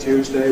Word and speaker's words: Tuesday: You can say ‘Sunday’ /ˈsʌndeɪ/, ‘Monday’ /ˈmʌndeɪ/, ‘Tuesday’ /ˈtjuːzdeɪ/, ‘Wednesday’ /ˈwenzdeɪ/, or you can say ‘Sunday’ /ˈsʌndi/, ‘Monday’ /ˈmʌndi/, ‘Tuesday’ /ˈtjuːzdi/, ‘Wednesday’ /ˈwenzdi/.